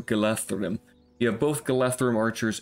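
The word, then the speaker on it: Galadhrim: He does come with a unit of Galadrum swordsmen, so you have both the Galadrum archers. Sorry, you pronounce it with a TH, so Galathrum.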